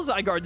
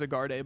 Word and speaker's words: Zygarde: Chat, I used to pronounce Zygarde as Zygarde, by the way, just to let you in on some cursed lore.